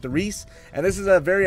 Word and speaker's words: Der Riese: franchise and that is the Rhys or Darice or the rise some people say it like that I call it the Reese and this is a